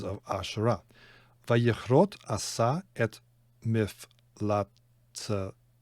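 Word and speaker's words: מפלצתה: Vayichrot asa et miflatzta, should pronounce that final hay there.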